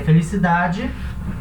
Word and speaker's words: felicidad: essa palavra aqui, que é felicidade. Em espanhol, esse D é um D mudo. Então, na hora de pronunciar, esse D vai ter um pequeno sonzinho.